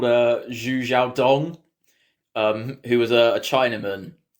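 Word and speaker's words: Xu Xiaodong: a dude called uh zhu zhao dong um who was a who apologies if we butcher any names i believe it's pronounced zhu zhadong but he was a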